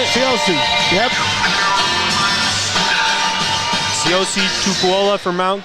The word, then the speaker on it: Siosi: Siosi.